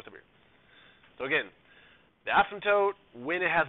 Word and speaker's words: asymptote: is the new word asymptote okay no P or p is silent the atom the asymptote